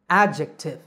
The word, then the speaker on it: adjective: news is that the letter d is actually silent here the word is just a jek adjective by the way how